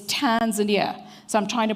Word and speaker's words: Tanzania: adapt wwf's T Tanzania I always say that people must say Tanzania it's Tanzania so I'm trying to